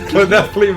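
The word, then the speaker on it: Llanelli: That's the way you pronounce it. Lionelli, man. It's Lionelli, the way it's written. It's Lionelli.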